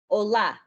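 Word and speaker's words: olá: mistake just now that it shouldn't be pronounced like hola in spanish i apologize instead you need to make sure to put emphasis on the a that has the accent and you would pronounce it like ola as opposed to ola and the words oi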